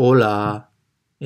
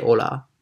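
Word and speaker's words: hola: つ目はホラーオラー h を発音しないでおらーこんにちはとかそう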